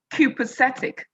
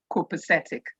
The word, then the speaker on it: copacetic: of the word kuposetic an english man will pronounce the word cupocetic but an american would say copacetic i'll probably like us